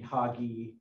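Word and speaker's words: Hogy: But you can see a better, closer shot of the hoggy, sort of light colored. How is it spelled? H-O-G-Y. But it's hoggy. He says hoggy. I would have put two G's in it.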